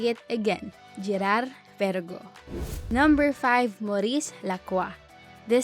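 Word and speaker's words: Girard-Perregaux: twist so inhale deeply and say it again Gerard Vergo number five Maurice Lacroix the Swiss company collaborates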